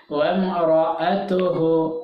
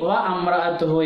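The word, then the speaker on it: وَامْرَأَتُهُ: വം റ, വം റ സുക്കുന മീമിന് ശേഷം റാ ഉച്ചരിക്കുമ്പോൾ കറക്റ്റ് ഉച്ചരിക്കുകയാണ് വേണ്ടത്. വം റ അതുഹു, വം റ അതുഹു, അല്ലെങ്കിൽ വ അമ്ര അതുഹു എന്ന് തെറ്റ് പറയും. വ അമ്ര അതുഹു എന്ന്, അത് രണ്ടും അല്ല.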